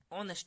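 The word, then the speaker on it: honest: हूं ऑनेस्ट में ऑनेस्ट ऑनेस्ट में भी एच क्या आ रहा है हमारे पास एच आ रहा है हमारे पास साइलेंट हम ऑनेस्ट बोल रहे हैं ऑनेस्ट इसलिए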